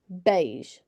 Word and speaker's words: beige: it's so thick but when you say the word beige you can hear that you don't hear the the believe you don't hear that e sound you know you hear beige b a you hear an a instead so when you when